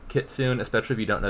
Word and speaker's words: Kitsune: The other pronunciation is Kitsune. I would be willing to believe that like an American looking at that word would guess Kitsune, especially if you don't